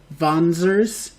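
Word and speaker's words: Wanzer: the mechs are called vonsers it's a one of those german words with where the w is pronounced with the v um and you can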